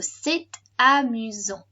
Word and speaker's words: c'est amusant: Now this is normally pronounced c'est, because the T is on the end, so it's silent. S is on the end, therefore left on the end, which is silent, so we just got c'est. But because the next word starts with a vowel, we do pronounce this T. So c'est amusant.